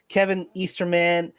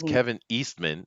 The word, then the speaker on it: Kevin Eastman: yeah yeah and this is from Bleeding Cool Kevin Easter man petty Lord reunite after Netflix the toys that